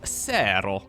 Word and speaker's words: Serral: We're looking inside of the main base of Ser. That's how he pronounces his own name.